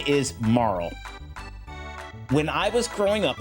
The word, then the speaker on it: Marle: name is uh Okay, so her name is Marl. When I was growing up, I called her Marley. So, I may slip up and call her Marley quite a bit. She was a Marley.